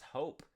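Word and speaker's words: Hoap: My name's Hope. It's spelled H O A P like soap, only with an H because we get to just screw with the English language like that.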